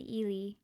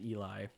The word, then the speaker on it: Ely: So these are from up in Ely, Minnesota. Not pronounced Eli. Eli, Yeah. No. as our friend from England Mhm. likes to call it.